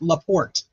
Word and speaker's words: LaPorte: It's okay, it's pronounced La Porte.